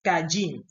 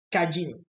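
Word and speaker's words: קין: no es Caín sino que así así se pronuncia en español pero en hebreo se dice es cayin kajin y de kajin viene quién mis rayin que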